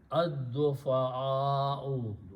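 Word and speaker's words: الضعفاء: It becomes ad-du'afa'u, and we write a wow as a chair. You don't pronounce wow. So it is just written there. So that's how it's in the Quran. The word is ad-du'afa'u. Okay. The weak people. Okay. Because of this hamza, this alif will have a mad on it. So it will be ad-du'afa'u. Not o only, because wow is not to be pronounced.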